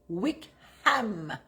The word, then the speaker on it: Wickham: Wickham. On prononce bien le H.